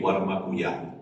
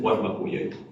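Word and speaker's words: Warma kuyay: El mal llamado Morí Guarmacuyay, ¿no? En quechua las palabras oxítonas son poquísimas. El arí, que significa así, alalá y el cacao, que son interjecciones, pero bueno, la pronunciación es Guarmacuyay.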